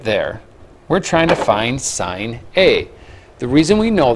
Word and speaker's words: sine: spelling of it but it looks like sin we always pronounce it as sign so when we're talking